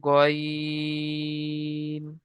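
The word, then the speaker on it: غ: আইনের পরে অক্ষরটা দেখতে পাচ্ছেন, এই অক্ষরটাকে বলা হয় গইন। এটাকেও তিন আলিফ পরিমাণে টান দিয়ে পড়তে হয়। যেমন গইন। স্টার চিহ্ন রয়েছে, মুখ গোল হয়ে পড়বে, উচ্চারণ করার সময় মুখ গোল হয়ে যাবে।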